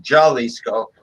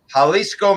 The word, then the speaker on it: Jalisco: Jalisco Mexico I believe I don't think they pronounce it Jolly scope right right Jalisco Mexico Jose Cuervo everyone